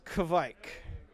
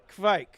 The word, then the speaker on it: Kveik: And the pronunciation is Kveik. Kveik.